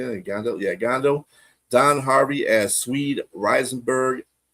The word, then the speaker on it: Gandil: Yeah, Gandil.